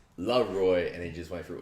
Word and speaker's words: Laroi: As you trying to pronounce, I saw it on Twitter. He's like, it's Laroi, and he just went through all these people that keep going different.